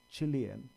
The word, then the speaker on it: Chile: in Chile last year a Chile as the correct pronunciation right last year because of